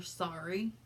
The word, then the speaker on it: Sari: But this is, I call her Sorry. The brand of it is spelled Sari, and it's actually a company that sells kosher wigs, and it's pretty popular in the Jewish community.